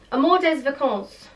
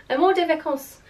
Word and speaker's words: Amour des Vacances: So I picked up this one, which just says Amour des Vacances, no, that's not how you say it, Amour des Vacances, holiday romance in French, and it's this really gorgeous navy blue colour.